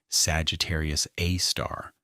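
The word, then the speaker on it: Sagittarius A*: and it was named Sagittarius A star, with the star pronounced as the word rather than the symbol.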